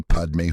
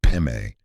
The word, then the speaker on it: Padme: It is Om Mani Padme Hum, not Peme, and certainly not Hung.